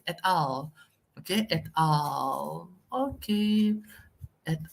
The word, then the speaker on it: et al.: The correct pronunciation is not at all or et al. As I said earlier, it's et al.